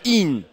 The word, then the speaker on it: Yan: Alors son prénom c'est Yann, Y-A-N, mais ça se prononce In à l'irlandaise, qui s'est installé en France il y a 11 ans.